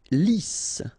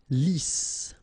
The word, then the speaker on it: lisse: Lisse. Double S here, so it's really a strong S. Lisse. Okay, don't insist on the final E.